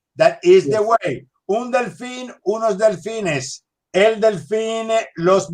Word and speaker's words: delfín: Yeah, it's el delfín. Muy bien, el delfín. You need to pronounce in because you see an accent on top of I.